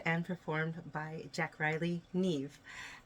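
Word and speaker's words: Niamh: performed by Jack Riley Neve and that is spelled n-i-a-m-h and you can find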